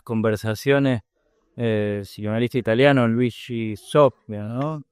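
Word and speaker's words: Zoja: El psicanalista italiano Luigi Sopia, ¿no? Soya. Sí. Ah, pronuncia soyas.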